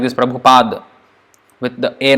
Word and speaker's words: Prabhupada: is almost the last PA das like his pronounce like this Prabhupada with the a not knows it's not wrong